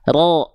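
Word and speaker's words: ر: Makanya ketika fathah huruf ro dibacanya bukan vokal a kan ya, tapi vokal seperti O ya, ro.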